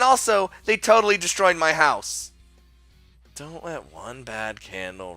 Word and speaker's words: Haas: Also, I think someone told me that the Haas is actually pronounced house. Still, but I like Haas, so I'm doing that.